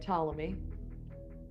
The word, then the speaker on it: Ptolemy: same way right like Ptolemy uh Timonium I don't know I don't know any other PT they're pronouncing all silent P's or the same yes